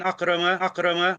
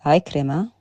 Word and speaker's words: Ikrima: About a hadith an Akrama. It's Ikrima.